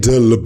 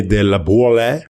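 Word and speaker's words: Laboulaye: The idea came out of a conversation in mid 1865 between Edward Rene Lab. Oh my god. French uh person Edward Rene de Lab. Spell that last name please.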